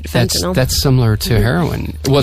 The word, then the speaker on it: fentanyl: you gave the correct pronunciation of this drug that Prince died from. Right, fentanyl.